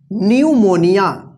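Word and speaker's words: pneumonia: क्या है साइलेंट है पी एन ए यू एम ओ एन आई ए इसको क्या पढ़ेंगे इसको पढ़ते हैं न्यूमोनिया न्यू मोनिया न्यूमोनिया का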